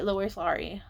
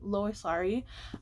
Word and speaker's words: Lois Lowry: And that was the next two books in the Givers Quartet by Lois Lowry. I think that's how you say her name, Lois Lowry.